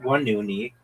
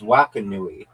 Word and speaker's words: Wakanui: It's not Wanuni. It's Wakanui. There's Wakiki.